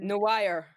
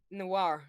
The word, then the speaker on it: noir: spider-man noah and then you go to spider-man no wire no no why how do you pronounce it bro noir no more noir i don't have a golem